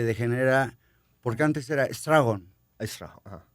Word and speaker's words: Straffon: Se escribe Strafford. Acá ven. Strafford. Strafford. Strafford, sí. ¿De dónde es? ¿Es inglés? Inglés, pero viene de Austria. Inglés. Y se degenera, porque antes era Stragon. Strafford, ajá.